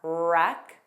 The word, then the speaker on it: wreck: Wreck, wrinkle, wrestle. The beginning WR spelling has a silent W pronunciation. So make sure you begin on that R sound.